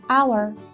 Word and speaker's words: hour: let's read this poem there is a silent Hey in a word in this poem listen carefully to guess where it is to see a world in a grain of sand and a heaven in a wild flower hold infinity in the palm of your hand and eternity in an hour so